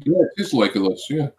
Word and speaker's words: Legolas: I always want to say Legolas, but I don't know how you pronounce his name. Yeah, it is Legolas. Yeah. Legolas.